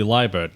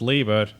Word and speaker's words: Liebert: thing, I was like, oh, his name must be Liebert. And then I watched the announcement videos. They kept calling him Liebert, and I was like, oh, I guess it's pronounced Liebert. I've been pronouncing it wrong.